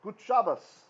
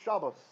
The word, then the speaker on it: Shabbos: pronounced as an s when there's no dagesh it's an s sound and when there's a dagger that's why in yiddish they'll say shabbas right good shabbos right or good shobos depending on if they're